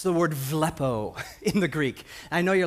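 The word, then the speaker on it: βλέπετε: word it's the word villopoto Greek I know you're like well has a B in the Greek B is pronounced v it's word villopoto means have vision way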